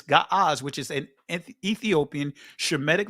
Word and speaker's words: Ge'ez: Other languages, they call it Ge'ez today, but the ancient pronunciation is Ga'az, which is an Ethiopian Shemitic language that had nothing but letters associated with the consonants.